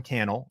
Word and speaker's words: Cannell: meeting my name is Cannell rhymes with YouTube channel and I live in